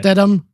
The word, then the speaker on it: Stidham: How do you pronounce the last name? Stidham.